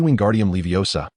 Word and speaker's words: Wingardium Leviosa: And your pronunciation is incorrect. It should be Wingardium Leviosa, not the garbled version you're attempting.